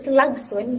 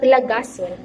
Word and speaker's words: lagson: So why is it that our new word here is lagson but not lagason? Because the last phoneme of the letters will be missing if we place suffix at the end of the word. And also it may cause the stress pattern in the stem to shift from one syllable to another. So let's move on in